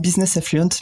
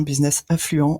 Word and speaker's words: Business Affluent: en particulier ok alors personnellement moi je dis business affluence mais c'est parce que j'aime bien l'anglais est donc la prononce comme ça on peut dire qu'en fait ça si pareil en france et donc ça marche très très bien business influents en français ça marche aussi alors qu'est ce qu'on